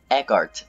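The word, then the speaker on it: Eckardt: what's her name it's Leah Eckhart it's spelled weird e c k a r d t she does this thing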